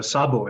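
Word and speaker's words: Szabo: very much Fabio and that's uh Sabo it's a Hungarian pretty common Hungarian name I grew up in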